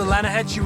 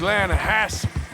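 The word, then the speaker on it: Lannahechee: The other day, I rode down to the Lanahatchee River. I caught some beautiful steelhead trout. You mean the River? No. The Lanahatchee. It runs right near here. Yeah, but it's pronounced Lanahatchee.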